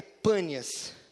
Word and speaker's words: Pânias: Não tem o P, então ele fala Bânias. Por isso que os árabes falam os brimo, né? Não é isso? Porque eles não têm o P. Esse som P para eles é difícil de pronunciar, né? Então o nome da cidade é Pânias.